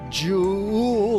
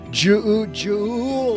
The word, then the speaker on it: Juul: One company, Jew Labs, why do they put so many U's in there? Jewel Labs, pretty sure that's how you say it.